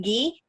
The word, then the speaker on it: ghee: said gay right where I was debris is ghee I'm not sure what you're referring to I